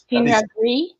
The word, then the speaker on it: Pinot Gris: Pinot Gris.